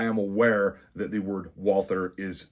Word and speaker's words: Walther: You will never hear an American calling a Walther a Walter. I am aware that there is a pronunciation difference.